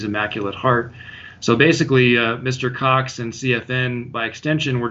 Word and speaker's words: Cox: Is it pronounced Cox? Is that how you say his name? Yeah, Stephen Cox.